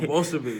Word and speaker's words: Bolshevik: Oh, Bolshevik.